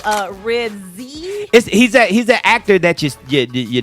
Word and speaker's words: Ribisi: Yeah, it was like phonetically Ribsy.